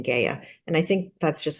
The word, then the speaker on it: Gaia: I used to have a student named Gaia, spelled the same way, but when I listen to the author, she pronounces her name Gaia.